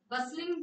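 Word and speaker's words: bustling: have peaceful lively बसिंग बसलिंग means hustle बसल hustle वसल होता है यहां पे टी क्या साउंड आएगा hustle and Bansal it इज बसलिंग तो टी is silent air okay मतलब जो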